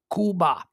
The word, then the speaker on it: Cuba: show them the respect of the way they pronounce their own country Kuba all right uh on this day in 1973